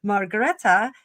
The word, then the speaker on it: Margrethe: Um there's a few different pronunciations. I ran it through Google. I watched a whole bunch of different programs on her and I couldn't quite get a consensus. So, Margaretta is the uh the BBC people seem to be pronouncing it pretty universally.